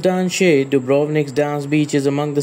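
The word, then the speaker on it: Danče: descends into the cliffs number three dance Beach pronounced Dan duik dance Beach is among the city's most magnificent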